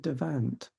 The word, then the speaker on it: Devant: who's Victorian, and I think they pronounce it David Devant. But it's only because I'm good at French that I can't stop myself saying David Devant. Right. But I think you should say David Devant, and that is how he would have pronounced it.